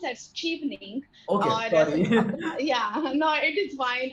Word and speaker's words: Chevening: what is shelving okay so um it is pronounced as cheapening yeah no it is wine absolutely if both